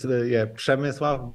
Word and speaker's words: Przemysław: It's Przemysław, but I'm totally fine. I know that Przemysław. It's super hard to pronounce my name and my family name, so it's okay.